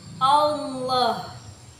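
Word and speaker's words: الله: itu pada kata Allah hukum tajwidnya tafhim karena la mujalalah yang berharakat fathah cara membacanya itu ditebalkan seperti ini Allah kemudian tajwid yang kedua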